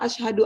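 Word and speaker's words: أشهد: kecuali kalau Ila maka Bacanya jangan salah asyhadu alla ilaha illallah ada tasbihnya kalau bacanya Ashadu alla ilaha illallah itu salah itu itu yang disebut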